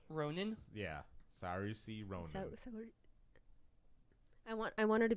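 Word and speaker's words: Saoirse: Spell it. S-A-O. S-A-O. S-A-O-I-R-S-E. Saursy. Ronan. Yeah. Saursy Ronan.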